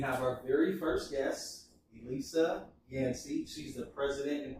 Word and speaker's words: Elissa: My name's Elissa Yancey. So I always like to say it's like Melissa no M, because it's very hard to pronounce otherwise.